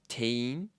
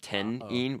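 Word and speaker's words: 店員: more time Tain tane I know it's like spelled like t-e-n-i-n but there's this like weird thing in Japanese where if you have like an um coming before an in then that like um gets thrown to the back and it's almost like you have a long e sound so instead of 10 in we say Tain o let's let's do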